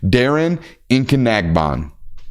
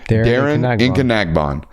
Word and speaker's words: Darren Nkanagbon: Darren Nkanagbon. Say it with me. Darren Nkanagbon. That is his pronunciation.